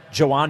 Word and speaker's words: Jhoan: It's Joaw Duran is the way he says it. There's no H. No. And it's not a it's not a yo and there's no H in there.